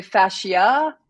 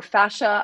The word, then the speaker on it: fascia: It can be either. I mean, some people say fascia or fascia. I call it fascia.